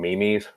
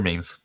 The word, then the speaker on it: meme: what I know there's some people that pronounced um Mimi's they're not their means and you know I can't say anything because up until like two years ago I was still calling them Mimi's Mimi's which realize thing